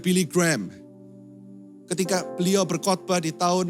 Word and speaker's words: Billy Graham: Billy Graham. Orang Indonesia ngomongnya Billy Graham. Pronunciation yang benar sebenarnya Billy Graham.